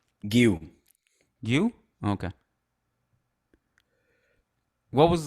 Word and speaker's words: Guiu: Do you want to tell me the pronunciation of his last name so I don't get it wrong? Guiu.